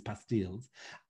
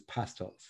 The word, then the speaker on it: pastilles: the french word pastel which rhymes with bastille right and i'm reading